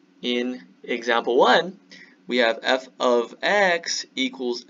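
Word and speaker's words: f(x): write f of x this is pronounced f of x do not say f times x this means x is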